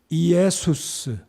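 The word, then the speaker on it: Ἰησοῦς: 정확한 방금 전에 말씀드렸던 헬라어 원어 발음은 이에수스 예수수입니다이 바람을 구약적인 히브리어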